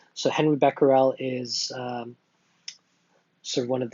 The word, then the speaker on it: Becquerel: check out this scientist I think it's pronounced by Parral I think there's slightly different pronunciations but Becker I think is one of the accepted pronunciations for that so Henri Becquerel is sort of one